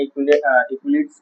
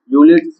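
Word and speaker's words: Euclid's: तो इससे निकालना है इक्विलिट्स डिवीजन लेमा, यूलिट्स डिवीजन लेमा। इक्विलिट्स मत पढ़ना, यूलिट्स पढ़ना, ई साइलेंट है।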